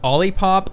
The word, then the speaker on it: OLIPOP: OLIPOP, like a lollipop, like I first said it, is correct.